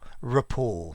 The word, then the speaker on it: rapport: not rapport ripple rapport rapport in english it's got a schwa at the beginning here um like in report a rapport a report